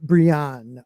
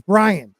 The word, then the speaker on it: Brienne: Brian. Brienne. Oh, it's Brian.